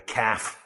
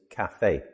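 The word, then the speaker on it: café: A lot of British people, especially round about the London area, call it a calf. I'm going to the calf. But the correct pronunciation is cafe. Two syllables.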